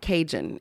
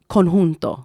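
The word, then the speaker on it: conjunto: and I was like, "Hey guys, it's not cinjun, it's konhunto, it's tahano." And I know it's it's similar, but it's not konhunto.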